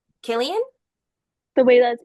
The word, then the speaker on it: Cillian: Oh, that's Killian. Killian? The way that's pronounced, It is?